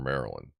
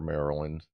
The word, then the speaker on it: Maryland: Whereas I'll say, I live in Baltimore, Maryland, or sometimes I'll say, I live in Essex, Maryland. And no, it's not Maryland. No, it's Maryland. That's how we pronounce it.